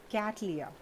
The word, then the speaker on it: Cattleya: इट्स कैटलिया. बहुत सारे लोग अलग अलग टाइप से प्रोनाउंस करते हैं और मैं बहुत ही पर्टिकुलर हूँ.